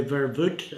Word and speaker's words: Verwoerd: Now, vervoet, I think that was proper pronunciation in South Africa. Verwoerd, he was one of the top men in South African apartheid system.